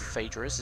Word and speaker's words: Phaedrus: His poetic meter, note the Phae of Phaedrus is pronounced the same as Phi.